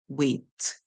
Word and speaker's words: wait: So the I is silent, the A is making the sound A. When we put it together, we have W, it, wait.